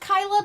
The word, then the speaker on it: Kyla: oh, hi, are you Kayla? She's like, it's pronounced Kyla, like, all defensively, like it's spelled Kyla, but people are forcing Kayla on her?